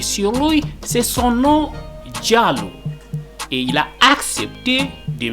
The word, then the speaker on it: Diallo: I'm like, well, yes, it should be pronounced Diallo, but you know, my parents named me Diallo, I guess presumably either because they didn't know how it's pronounced or they didn't want people calling me Jello, which is a food here in America.